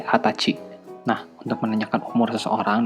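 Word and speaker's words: 二十歳: harus kalian perhatikan yaitu pada umur 20 pengucapannya bukan jadi ini jussai tapi menjadi hatachi Nah untuk menanyakan umur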